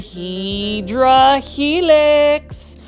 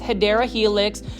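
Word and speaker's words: Hedera helix: This is the Heedra helix or the correct way to say it is Hideera Helix.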